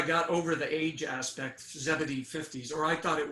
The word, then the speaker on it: Zebedee: But then she told me it's, Zebedee, and I kind of got the pronunciation from her.